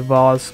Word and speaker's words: vase: pronunciation but i think i prefer vase to vars although to me vase